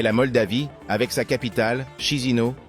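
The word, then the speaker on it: Chișinău: Moldavie avec sa capitale chizino prononcée kichenau est un joyau caché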